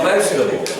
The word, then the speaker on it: vegetables: You got to work on that V sound to get away from the wedge, woo, and into the veg.